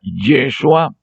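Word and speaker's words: ישוע: Por ejemplo, en hebreo, aquí tenemos la frase en hebreo, que se pronuncia Yeshua Hanotzri Bemelech Ha-Yehudim, que significa Yeshua, lógicamente es intraducible, con un nombre propio, que después lo tradujeron como Jesús.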